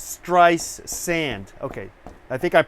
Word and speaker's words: Streisand: nice sand there's no there's no tea so it's try no tea in the middle T at the beginning it's stress sand okay I think I'm